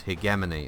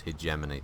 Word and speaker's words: hegemony: outside its hegemony there's there's a British English pronunciation of the word which is hegemony and then there's the American pronunciation which is hegemony the number of times